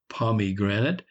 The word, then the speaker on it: pomegranate: Palm granite Palm Granite pronounced invariably pomegranate is a near enough rhyme to immigrant in a naturally rhyming